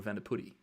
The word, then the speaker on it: Vandeputte: Like my last name, Vandeputte, in English would be Vandeputte or Vandeputte, but in Flemish it's Vandeputte.